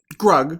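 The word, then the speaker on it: Grug: scene is when drug drug he gets rhymes with hug I that's how I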